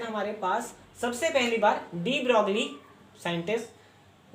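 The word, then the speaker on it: de Broglie: अब मैटर में कैसे वेव नेचर होता है उसकी जानकारी हमें डी ब्रॉगली, scientist डी ब्रॉगली, this Louis Victor डी ब्रॉगली या डी ब्रॉय भी प्रोनाउंस करते हैं इसको, डी ब्रॉय थ्योरी से हम उसको समझ सकते हैं।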